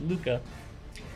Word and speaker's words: LUCA: Now, of course, we pronounce it LUCA, but it's the last universal common ancestor.